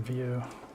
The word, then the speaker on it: Vue: you go oh okay View pronounced view JavaScript framer for building